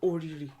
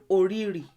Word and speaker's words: òrìrí: Et puis, pour «òrìrí», "òrìrí" a différents dialectes et différentes prononciations. Ainsi, vous pouvez entendre "òrìrì," vous pouvez entendre «òrirì», alors, "òrìrì," «òrirì», vous pouvez entendre "òrírì," vous pouvez entendre "òríìrì," c'est tout pareil.